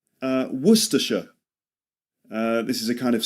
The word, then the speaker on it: Worcestershire: There's actually 2 ways of saying it. You can do the full way, Worcestershire sauce, and some people say Worcester sauce. Okay, so you've got 2 pronunciations. You can say, some people say Worcestershire sauce, others say Worcester, Worcester sauce. Worcestershire becomes Worcester.